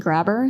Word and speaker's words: Grabr: It's called Grabber. So if you travel to Latin America a lot, it's spelled GRABR, then in Latin America, a